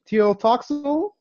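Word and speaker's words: Tlotoxl: Teotoxal from the Aztecs. From the Aztecs, Teotoxal.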